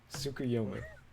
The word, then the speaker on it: Tsukuyomi: I have to look at your fucking thing because I don't remember how to pronounce his name, Shane. Give me a second. Shane, what's his name? Tsukuyomi.